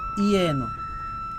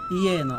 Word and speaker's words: যেন: তাহলে যদি লেখা থাকে যেন, তাহলে আমরা উচ্চারণ করব ইয়েনো। কি বলবো? ইয়েনো।